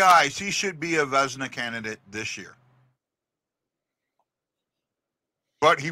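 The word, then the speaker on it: Vezina: a vzna candidate did I say it right vzna yeah vzna but his numbers won't put him there but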